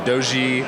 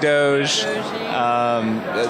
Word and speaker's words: Doge: You can pronounce it doggy, you can pronounce it doji. I like Doge. There's a couple other pronunciations. Some people just say dog.